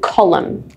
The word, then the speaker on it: column: just say or AUM Autumn the last one column colum colum now let's have a look how